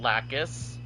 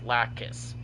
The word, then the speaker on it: Lacus: Because it sounds like Lacus, and it sounds like you're adding another syllable or another letter.